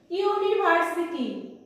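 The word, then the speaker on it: university: কি বসলো, এ বসলো, ইউনিভার্সিটি ইউনিভার্সিটি স্টুডেন্ট বলি ইউ ইউ এর মতো উচ্চারণ করছি, তিনটে ওয়ার্ডে দেখো আমি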